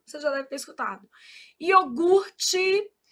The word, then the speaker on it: iogurte: Iogurte. O R é aqui, a gente às vezes desloca esse R, fala iorgute. Isso é um erro de ortoépia.